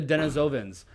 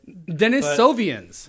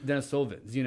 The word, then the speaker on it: Denisovans: Mispronouncing it. Denisovians. It's pretty damn close, I think. It is an I think it's putting entire an emphasis on the different... wrong syllable there.